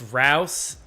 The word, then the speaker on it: Rouse: name pronunciation there for it's Rouse, and I'm only pointing that out because Quadnick specifically messaged me before the game. He was like, "Hey, his name's Rouse. He hates being called Bruce."